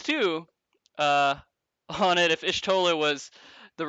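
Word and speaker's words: Y'shtola: Yeah, Yeah, I think it's Ishtola. Is that right? Am I pronouncing that right? Yishtola.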